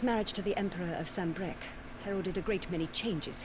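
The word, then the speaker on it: Sambreque: I've been pronouncing it all wrong. I thought it was all fancy because it's got the Q-U-E. It's just Sambrec?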